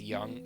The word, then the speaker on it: Jung: electroc convulsive so it's young so it's like Yang it's not Jang it seems to be